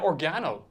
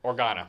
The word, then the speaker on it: Organa: guys have said leia organo you say or no i said it wrong she's not of spice organo oregano or organa organa organa leo organa